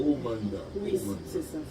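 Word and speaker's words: Amhana: les nouvelles personnes que on le prononce dans sa version vraiment originale qu ok c'est omanda mais par contre ça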